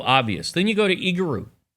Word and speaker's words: Igorot: You pronounce it Igorot, and it means letter, epistle.